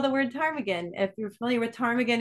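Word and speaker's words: ptarmigan: to spell the word Tagan if you're familiar with Tagan everyone of course it has a silent p uh p t a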